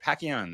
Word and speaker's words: Pacchione: Pacquion, that's how you say it.